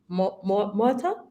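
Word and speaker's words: Murtagh: We are absolutely delighted to have from Ubisoft, Luke Murta. You pronounced it fairly well. It's not French, it's Irish, and the G is silent.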